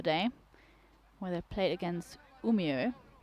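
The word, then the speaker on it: Umeå: where they played against umio as you taught me it's pronounced think of Romeo Romeo it's a weird reference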